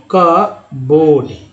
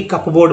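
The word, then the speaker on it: cupboard: इसे देखिए यहाँ पे कब कबोर्ड, कब कबोर्ड ना कि कपबोर्ड बोलते हैं, कबोर्ड।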